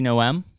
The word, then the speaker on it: Noem: Kristi Noem. Kristi Noem. Yeah. No. With no M? Noem. The M is silent.